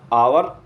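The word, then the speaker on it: hour: प्रयोग किया एन किया इसी प्रकार आवर ठीक है इसमें दिखने में तो एच है लेकिन यह साइलेंट है एच इसमें ओनर एच साइलेंट है अंब्रेला ठीक अब साथियों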